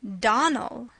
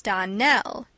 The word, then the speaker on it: Donell: you pronounced our name Donal now miss surely the correct pronunciation of our name is Donell Accent on the last syllable I hope you'll remember